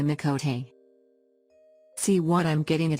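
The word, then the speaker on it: Miqo'te: a crazy cat person no offense to the mikhote oops i mean the mikote see what i'm getting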